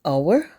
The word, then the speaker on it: hour: honor Union and University hour and honor start with a consonant but the H is silent giving us a vowel sound so we would use the article an before these nouns an hour and an honor likewise